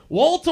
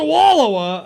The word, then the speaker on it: Wallowa: years now and I still can't do Oregon pronunciations of stuff. So I was gonna say Wallowa County. Oh, sorry, yeah. Walta Wallowa.